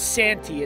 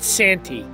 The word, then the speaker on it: Santee: the Santee River delta I believe it's Santi it's s-a-n-t-e-e so I'm gonna pronounce it Santi it is not a